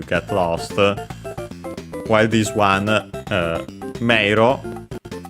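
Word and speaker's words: 迷路: While this one, meiro, by the way, accented on the first syllable, so be careful.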